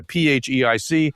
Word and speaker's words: PHEIC: But the World Health Organization has labeled this a public health emergency of international concern, what they call a PHEIC, which is pronounced fake.